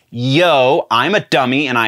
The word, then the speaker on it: Yeoh: i was saying michelle oh or at least it sounded like i was saying michelle oh it is not oh it's yo i'm a dummy and